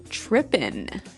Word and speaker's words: trippin': As you notice, it's trippin'. It doesn't have the G at the end, which isn't really grammatically correct, but that's kind of the way it's pronounced. Yeah, we would never say the G.